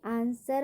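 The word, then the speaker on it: answer: वैसे ही आंसर में भी W क्या होगा, साइलेंट होता है।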